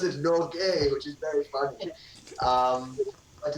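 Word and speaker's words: Norge: They pronounce it Norgay, which is very funny.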